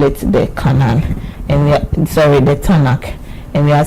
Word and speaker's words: Tanakh: But for pronunciation purpose, we include a small a so that you can pronounce it. So instead of TNK, we call it the Canon, and the Tanakh.